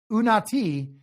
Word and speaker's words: Unati: It's pronounced Unati. The end is O.C. Unati is from the isiZulu language.